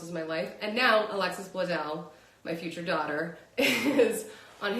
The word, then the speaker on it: Alexis Bledel: But especially I mean like every scene that Alexis Bledel, am I pronouncing that right? I should be, yeah, Alexis Bledel is in.